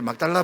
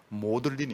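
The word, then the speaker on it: Magdalen: 막달 막달라 칼리 칼리지 근데 막달라 부르면 막 달라라 부르면 안 됩니다 영어 발음은 모들린 있니다 모들린 예 그래서 영국에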